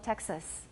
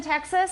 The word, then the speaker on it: Texas: taxis ok dojo Texas what foul do I have in the second syllable of Texas it's a schwa definitely a schwa and this is a